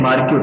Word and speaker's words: marquee: Now we'll understand adding marquee text.